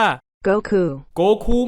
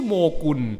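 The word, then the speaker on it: 悟空: มี ชื่อ ว่า ซุนวูคอง วูคอง เนี่ย ถ้า ออก เสียง ภาษา ญี่ปุ่น นะ ครับ มัน จะ เป็น คำ ว่า คือ ซึ่ง ภาษา อังกฤษ จะ ออก เสียง ว่า โกคู ไม่ ได้ ชื่อ โงกุน และ โงกุน กับ หงอคง ไม่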